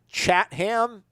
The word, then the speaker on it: Chatham: Is Chapman or Chatham? Chatham? It's spelled Chatham. Yeah, it would be Chatham.